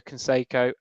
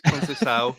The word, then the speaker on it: Conceição: Sergio Canseco? No. What did I go for? What did I go for? That's probably the worst one you've ever done. It's Conceição, at the very least.